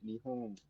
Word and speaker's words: Nihon: in the back, like your tongue will touch your uvula on the N in Nihon, the final N, that is. You can say it like that, but you can also say Nihon.